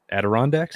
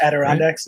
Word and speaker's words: Adirondacks: how do you say that mountain range that adirondacks adirondacks yeah there you go i can never say